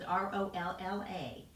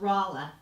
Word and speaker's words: Rahla: The French spelling is R-O-L-L-A, but my name is pronounced Rahla, not Rolla.